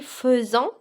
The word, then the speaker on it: faisons: au défi posé ici faisons s'écrit avec a I mais il se prononce e d'accord faisant c'est le